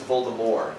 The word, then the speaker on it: Voldemort: By the way, did you guys know that Voldemort is the incorrect pronunciation of his name? J.K. Rowling later said, everyone says Voldemort, so I just went with it. But his name is Voldemort. The T is silent.